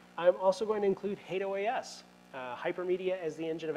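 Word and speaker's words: HATEOAS: engine of application state I know some of you may pronounce that differently you're pronouncing it wrong I'll just tell you that now as someone who's worked with the product in the past called OAS I can tell you that hate OAS is the right pronunciation the hal browser which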